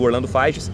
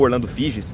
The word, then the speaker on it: Orlando Figes: Continuando, Uma História Cultural da Rússia, do Orlando Figes, ou Orlando Figes. Já vi pessoas falando, pronunciando o nome dele das duas formas.